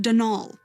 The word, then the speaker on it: Donal: not Donald mind you there's no D at the end so it's pronounced denal that's the way you're